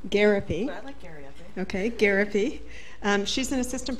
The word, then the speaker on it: Gariepy: All right, so the next speaker is Aileen Gariepy. Is that pronounced? Gariepy.